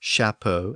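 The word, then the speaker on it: chapeau: kitchen and notice that even though words like shapo and Chef retain the same ch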